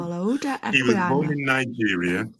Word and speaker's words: Olaudah Equiano: My name is Olaudah Equiano. Can you say that? And so I want all the listeners at home to say it. Olaudah Equiano. Olaudah Equiano.